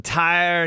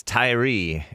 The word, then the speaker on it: Tyre: and an update on Tire Nichols Tyree is his pronunciation the late Tyree Nichols